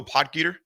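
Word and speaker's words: Potgieter: How do you pronounce his last name? Did you go Podgator? I would say that is correct.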